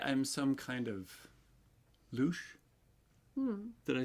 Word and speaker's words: louche: I'd say I'm some kind of louche.